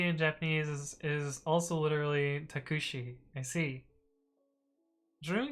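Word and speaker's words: タクシー: Oh, you don't pronounce the U, so it's takshi.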